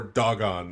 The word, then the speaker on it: Dagan: woried by the Philistines is really that or or dog on is actually how it's pronounced it dog on God yeah yeah beat me